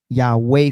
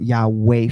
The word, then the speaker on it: Yahweh: What scholars did was they actually used the two-syllable sound, and this is where you get Yahweh from, okay?